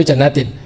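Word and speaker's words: جَنَّاتٍ: Maka bacanya jannatin. Nasabnya bukan jannatan tapi jannatin.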